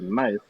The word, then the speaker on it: knife: but AK not silent like knife K and knife is silent so you know I'm